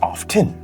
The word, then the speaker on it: often: often now of course if you are in the UK you would probably pronounce it as often I could be mistaken because you can hear the letter t in it but here in the